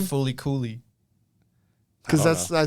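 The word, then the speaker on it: Fooly Cooly: fully coolly? Because I that's, don't I think, what the Explain name it is. to me. Oh, no, it's pronounced as Fully Cooley.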